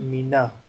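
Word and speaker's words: مِنَ: So instead of writing the skun, we convert it into fatha, and it becomes mina.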